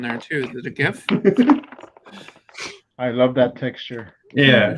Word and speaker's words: GIF: When they ask the guy who created it how you should say, he goes GIF, like the peanut butter. Damn it! Everyone is wrong. Well, common nomenclature has renamed it as GIF, so you're both right.